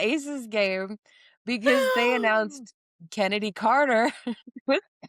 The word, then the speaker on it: Kennedy: You asked when we were at the Aces game because they announced Kennedy Carter. That is not, I don't know if you know this, pronounced Chennedy.